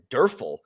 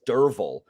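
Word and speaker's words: Derfel: main character spelled d-e-r-f-e-l so you would pronounce it durfel but it's derval that's how it's pronounced so um so yeah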